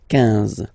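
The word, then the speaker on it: quinze: Same thing here, U doesn't exist, so 15, 15, 15, all right?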